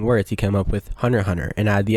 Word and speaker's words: Hunter x Hunter: shouldn't be and that the x is silent and the series should be pronounced hunter hunter i mean they're literally